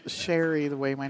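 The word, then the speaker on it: Shari: that's my dad's fault then it's because it's sherry the way my name is spelled sha RI is a derivative of sera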